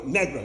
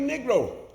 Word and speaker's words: Negro: people that couldn't cry learn how to pronounce that word so it came at negra you know negra necklace but I became a Negro it was until some